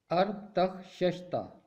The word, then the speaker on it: ارتخششتا: تلفظ کرنا سیکھتے ہیں۔ پہلا نام ہے ارتخششتہ۔ اس کا درست تلفظ ہے ارتخششتہ۔ عبرانی متن میں بعض